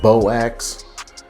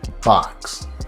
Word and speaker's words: Boax: new to hamp flower if you see the strain bo axe it's pronounced box and then i got